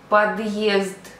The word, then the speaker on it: подъезд: If I pronounce without a hard sign, you see the difference. Въезд, въезд. Another example. Подъезд, подъезд.